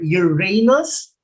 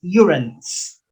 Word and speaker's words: Uranus: saturn uranus and neptune regarding pronunciation and uranus um a lot of astronomers and professors of astronomy um they also pronounce this uranus so you can pronounce this either uranus or uranus and they are also